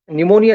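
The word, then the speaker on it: pneumonia: जैसे साइकोलॉजी शब्द का या फिर निमोनिया शब्द का उच्चारण हम जब करते हैं तो पी साइलेंट है ऐसा कहा जाता है।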